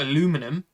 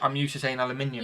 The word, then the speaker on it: aluminium: I have no issues with you saying it, but aluminum is weird to me because I'm used to saying aluminium.